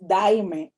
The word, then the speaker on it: Daymé: So da, y, ang. So my brother's name is Diane. My name is Daime.